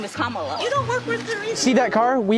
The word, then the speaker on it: Kamala: how to say her name earlier you said Kamala the way she pronounces her name is Kamala you don't work with her Reon see that